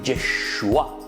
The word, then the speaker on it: Yeshua: Jesús quiere decir, en hebreo se dice Yeshua.